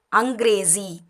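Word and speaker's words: अंग्रेज़ी: இதை வந்து புள்ளி இல்லாமல் இருந்தால் ஜி, புள்ளி கீழே வச்சா ஜி, இசட் சவுண்டில் ப்ரொனவுன்ஸ் பண்ணணும். ஜி அங்கிரேசி.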